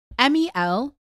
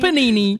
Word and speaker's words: Melpomene: Right, how would you pronounce this? Go on. Justin, I'm so sorry. Melpomene. So M-O what? M-E-L. M-E-L. Melpomene. Melpomene. Melpomene. Melpomene. I don't know. You said panine. Melpomene. Melpanini.